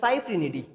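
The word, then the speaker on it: Cyprinidae: নামের শেষে দিয়ে দেখবে DAE বা ডি থাকে, DAED উচ্চারণ ডি। তো এই রুই মাছের ফ্যামিলির নাম হচ্ছে সাইপ্রিনিডি অথবা সাইপ্রিনিডি, অনেকে বলে সাইপ্রিনিডি অথবা সাইপ্রিনিড।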